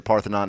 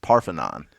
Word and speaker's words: Parthenon: So, quick fact: in Greece, the Parthenon is pronounced Parthenon, and I bet you didn't know that. Parthenon. But here in America, we Like pronounce it Parthenon.